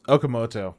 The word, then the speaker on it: Okamoto: I'm scared of pronouncing this one wrong. Nobuhiko Okamoto. Close. Okamoto.